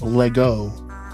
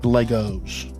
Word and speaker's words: Lego: The S is silent.